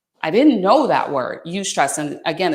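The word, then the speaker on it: eustress: and and you have that type of your you stress then you're you're locked in you're gonna be more focused have more motivation and more creativity does that make sense that you stress have you ever heard that word because i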